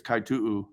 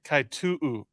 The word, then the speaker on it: Kaitu'u: She's never corrected me, but I'm pretty sure it's Kaitu'u. Okay, Liana Kaitu'u.